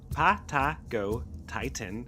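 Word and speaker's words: Patagotitan: Patagot Titan, pronounced Pato Titan, was one of the largest land animals to ever walk the Earth.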